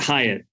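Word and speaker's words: Highet: how do you say his last name gilbert hyatt h-i-g-h-e-t to show too that like education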